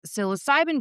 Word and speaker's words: psilocybin: person, and I've had several recently on this psilocybin journey. Did I say that right? Yeah. Okay, yes. I've been working on the pronunciation, but I haven't had a female in a while.